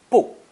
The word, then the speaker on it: 不: With fourth tone, 不大, 不大, not large. 不 changes to 不 before another fourth tone.